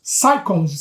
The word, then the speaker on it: psychologist: orientação de um psychologist psychologist você sabe que não pronuncia P explica ensin você não pronuncia você não fala psycholog psych psychology você pronuncia psychology é uma pequeno parêntese